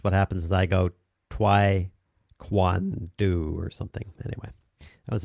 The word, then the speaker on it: Taekwondo: It's Taekwondo. Boom! Nailed it. And I'm not going to do it in, because what happens is I go Taekwondo or something.